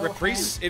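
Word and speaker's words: reprise: sub I hate Platformers because I have no repr it is pronounced repri I thought so um it's from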